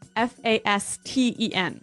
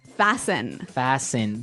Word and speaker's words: fasten: It's spelled F A S T E N. Right. So, it would be fasten. No. No. Right. Fasten.